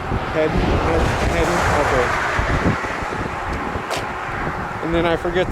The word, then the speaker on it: Hayden: it's pronounced. Hayden.